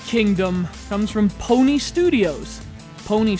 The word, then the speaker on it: Pwnee: Pwnee spelled like, oh hey, I just pwned you.